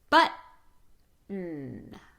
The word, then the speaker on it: button: I want you to say, button. But, stop the T, shorten the vowel, sustain the N.